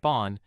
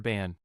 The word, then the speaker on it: บ้าน: So when you say บ้าน meaning house, it sounds like bon, not like the English word ban.